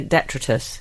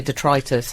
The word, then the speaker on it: detritus: this but I say detritus some people say detritus I say I say detritus a lot of people do I say Det said tritis oh well I'm wrong oh let's call the whole